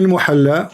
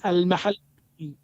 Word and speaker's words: al-Mahalli: Jalaluddin al-Muhalla wa Jalaluddin al-Suyuti. wrong. It is not al-muhalla. What it You is? don't understand. What it is? It is al-mahalli.